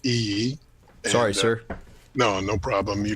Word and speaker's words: Iyi: My name is Iyi. It's pronounced Iyi.